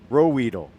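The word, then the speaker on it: Ruhwedel: Rowedle.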